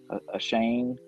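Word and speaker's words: Achane: the devon i don't even know how to pronounce his last name it's a-c-h-a-n-e a shane uh he had a 910 yards last year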